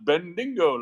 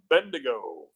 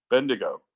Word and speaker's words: Bendigo: that they said Mandingo they pronounce bendingo like it's a uh it sounded like a racial slur or something when I first heard and then I thought oh they're talking about Bendigo Bendigo yeah so uh yeah